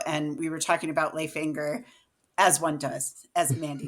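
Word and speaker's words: Leif Enger: book signing and they introduced him as Leif Anger and I was horrified and I was like I have to email all of my students.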